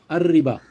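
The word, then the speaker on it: الربا: been referred to as ar-riba. In this term, riba is prefixed with the Arabic definite article al, which is equivalent to the English the. But the term is pronounced as ar-riba.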